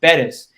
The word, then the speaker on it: Bettis: last name is pronounced bettis because an accent on the first e and you know it